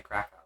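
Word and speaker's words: Kraków: I should say Krakow. That is again, please do not trust the American in how they are pronouncing these place names.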